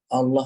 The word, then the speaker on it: Allah: Karena saking cepatnya Allah, Allah, Allah, Allah, Allah, Allah, dia tidak menyebut lafzul jalalahnya dengan tepat. Dalam bahasa Arab ada nggak lafaz O? Nggak ada. Adanya A. Jadi mestinya dibaca Allah.